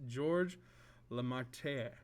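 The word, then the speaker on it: Georges Lemaître: very much so it's hard for me to pronounce this but it's george la marte so george lamarter was a catholic priest in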